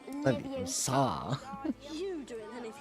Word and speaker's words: Leviosa: You're going to take someone's Besides, you're saying it wrong. It's Leviosa, not Leviosa.